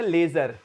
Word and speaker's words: leisure: लेजर उच्चारण क्या होता है, लेजर, लेजर मैंने होता है खाली